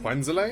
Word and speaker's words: Quenzele: He should be here any Quenzele? time now. Aha. Is that? Speak of the Have I devil. been saying it wrong the entire time? Oh, it is Quenzele. There's no accent at the end, bro.